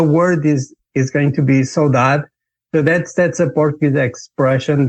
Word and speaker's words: saudade: Saudade. Okay. It's spelled Saudade.